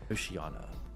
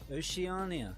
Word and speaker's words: Oceania: Oceana. What are we watching? Oceana has... We're watching YouTube, why YouTube has a slop problem. Oceania. Not Oceana.